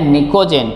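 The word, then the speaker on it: Pnicogen: group number 15 उसको बोलते हैं निकोजन पी साइलेंट है और यह क्यों क्योंकि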